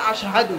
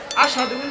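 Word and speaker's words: أشهد: যারা মাদ্রাসায় পড়েছেন ওলামায়ে কেরাম যিনারা আছেন তিনারা জানেন যে শুদ্ধ উচ্চারণ হবে আশহাদু কি হবে আশাদু বেলাল বলতে পারে না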